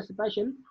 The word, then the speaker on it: spatial: स्पेशल ये स्पेटियल या स्पेशल, इसकी प्रोनाउंसिएशन स्पेशल है लेकिन इसको स्पेलिंग इसके SPATIAL, इसका मतलब ये है